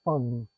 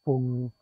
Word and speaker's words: Fung: In English, you pronounce it Fung, but in Cantonese, you pronounce it Fung.